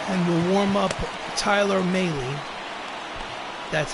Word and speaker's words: Mahle: So we'll warm up Drew Pomerantz, and we'll warm up Tyler Mahle. That's how it's even pronounced.